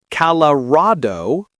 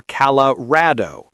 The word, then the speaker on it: Colorado: This one has two acceptable pronunciations. Calado or calar. The first is more western, the second more eastern.